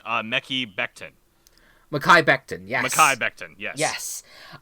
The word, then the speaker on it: Mekhi Becton: And they're gonna pick up part of the pronunciation, Mekhi Becton. Mekhi Becton, yes.